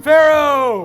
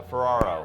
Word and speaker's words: Ferraro: William Farrow. All right, Ferrara. Here we go, William. I said the last name wrong. Yeah, Ferraro. Ferraro. There you go, William.